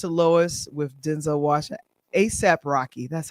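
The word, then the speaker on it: A$AP Rocky: Last night, according to Deadline, Highest to Lowest with Denzel Washington, ASAP Rocky, that's how you pronounce his name, Ice Spice, and director Spike Lee, and that's for A24's Apple's Films red carpet premiere at BAM.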